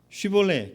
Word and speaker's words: 쉬볼렛: 그래서 쉬 발음을 하면 괜찮은데 쉬가 안 되고 시가 되면 이제 아닌 거라고 하더라고요.